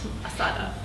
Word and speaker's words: Ahsahta: Market wonders uh by ashata press assata we've been we've been discussing how to say it like like carneada like carneada okay sort of like I make things too difficult assada assada press uh was a finalist